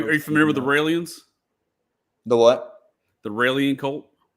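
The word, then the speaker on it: Raëlians: is the israelian no they're called raans it's just take off the is from israelian isra well no no I think they spell it similar R AE l i ns raans I think I know yeah it's it's raw L there you go raw L yeah yeah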